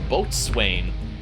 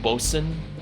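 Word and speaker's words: boatswain: it's supposed to be spelled like B Swain and when I was younger I thought oh yes it's bat Swain but apparently it's supposed to be pronounced bosen sorry you got a free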